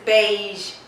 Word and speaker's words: beige: and how you pronounce this word beige it's beige beige there is a seeming sound right at the end as I've already said